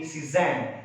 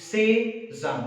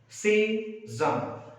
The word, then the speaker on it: Cézanne: It's a French name, so we do not say Cézanne. It is Cézanne. Break it up into a syllable. Cézanne.